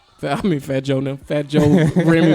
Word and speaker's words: Fat Joe: if anybody gets left out it might be fat Joon I mean fat Joon Fat Joe Remy M you said it right right French